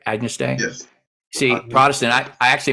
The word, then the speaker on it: Agnus Dei: I did pronounce that right? Agnus Dei.